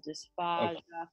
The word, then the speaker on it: dysphagia: So I'm just keeping the vowel the same, you know, dysphagia, phagito. That is the correct way to say it.